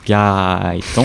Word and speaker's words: Gaëtan: Pour me contacter, mes réseaux c'est Gaëtan avec 4 A, ça se prononce Gaëtan, faut pas en oublier.